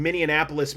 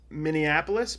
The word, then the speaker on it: Minneapolis: I think you put too many N's in it. I think Minneapolis- there's an extra syllable in there. Minneapolis?